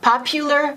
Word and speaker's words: popular: Let's do a few more that have that U. The pronunciation is U, even though the spelling is U. Popular, popular. Popular. It's a U, right?